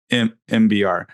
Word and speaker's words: MBR: Everybody calls it MBear because it's spelled that way, but it's MBR.